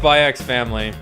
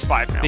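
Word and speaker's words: SPY×FAMILY: But is it pronounced by X family? I think we determined no. No, it's Spy Family.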